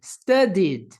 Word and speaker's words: studied: Então, pronunciaremos study com som de D, esse ED. Studied. Studied. Studied.